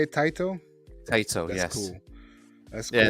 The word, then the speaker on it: Taito: Taito, That's yes.